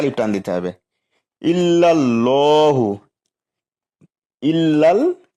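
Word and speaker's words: إِلَّا ٱللَّٰهُ: ইল্লাল্লাহু, ইল্লাল ল 1 লিপ টান দিতে হবে।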